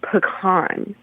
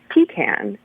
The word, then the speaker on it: pecan: very young age that the prop pronunciation of a certain nut is pan and not pean and this is important